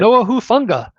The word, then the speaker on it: Talanoa Hufanga: Talanoa Hufanga. That's not bad. Yeah, I think I did it. Talanoa Hufanga, just like Yeah.